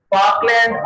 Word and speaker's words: Falkland: इसमें जो पहला एल है वो साइलेंट है, ये यहां मैं लिख देता हूं FALKLAND। लिखने में फॉकलैंड आएगा, पढ़ने में फॉकलैंड होगा। ये फर्स्ट एल जो है ये साइलेंट है इसका।